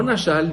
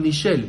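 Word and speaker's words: נשל: Se escribe Nishel. No Nashal, Nishel. Porque si fuera Nashal, tendría una Aleph. Y como no tiene una Aleph, entonces es Nishel.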